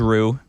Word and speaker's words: Roux: We have my dog's name is Rue, and we've had Rue for. How do you spell that?